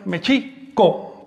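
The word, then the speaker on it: Mēxihco: Ahora bien, el acento recae sobre la I, Mexico, porque todas las palabras del náhuatl son graves o llanas, es decir, se acentúan, todas las palabras de dos sílabas o más, se acentúan en la penúltima sílaba.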